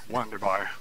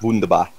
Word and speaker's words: Wunderbar: Wonderbar. Shit. I believe it's pronounced wunderbar.